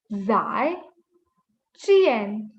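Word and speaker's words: 再见: Next is goodbye, which is zai, zai, chien. So your letter J is pronounced as ch. Zai, chien. Again, 4 tone, so your pitch just falls.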